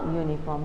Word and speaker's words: uniform: it should be a uniform because when you say the word here the u sound is pronounced as you your sound isn't it so university